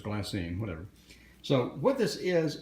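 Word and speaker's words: glassine: I any so glass it looks like glass sign but its glass saying whatever so what this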